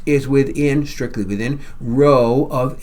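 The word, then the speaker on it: rho: Row, that's the Greek letter row. It's spelled R H O. And it's pronounced like row, row, row your boat.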